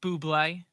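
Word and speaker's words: bubly: it's pronounced Buble, but I won't get Bublé.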